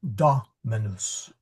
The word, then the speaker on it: dominus: And so you're going to stress the dominus and it does not rhyme with news. Try not to say uh dominus or moose, but rather it rhymes with mus dominus or sorry dominus. Um it's a short u and you'll see a